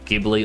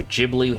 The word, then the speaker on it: Ghibli: I believe majority of the studio Gibli or Studio Ghibli, however you want to pronounce it, majority of their films when accounting for inflation costs less than $19 million.